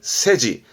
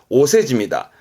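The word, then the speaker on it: お世辞: 그래서 세사라 하면 그래서 발음이 세지. 오세지입니다.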